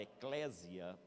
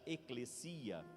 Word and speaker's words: ekklesia: né, falar eclésia, mas a palavra no grego se pronuncia eclesia, mas cabe eclésia, não tem problema, porque está na nossa língua também a forma de transliteração.